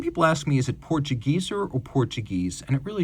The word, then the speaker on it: Portugieser: Portuguese is how it would be said in an English-speaking market. So neither one is wrong, but if you want the native pronunciation, it is Portugieser.